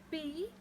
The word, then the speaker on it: poem: P-O-E-M. Poem? How do we pronounce it? Poem? No, it's the incorrect pronunciation. The correct pronunciation of a P-O-E-M is neither poem nor poem. It is poem.